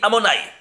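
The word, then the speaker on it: Adonai: Aleph Dalet Nun Yod, il s'écrit comme ça, mais il se lit Amonai.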